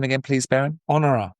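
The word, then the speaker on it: Honorah: Honor. Honor.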